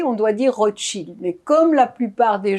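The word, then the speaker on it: Rotszyld: Parce qu'il est né en Pologne, et en Pologne, le SZ est équivalent du CHE. Alors, Rothschild, ça s'appelle comment? Ça, c'est Rothschild, R-O-T-S-Z-Y-L-D. Mais si on veut bien le prononcer, on doit dire Rothschild.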